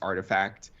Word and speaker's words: RTFKT: uh the rtfkt studios it's actually pronounced artifact um okay so that